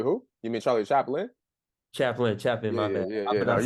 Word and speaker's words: Chaplin: I remember we were watching Charlie Chapel's. I hope I pronounce his name right. He's like an older filmmaker. He we used to watch Like what era? Charlie who? You mean Charlie Chaplin? Chaplin.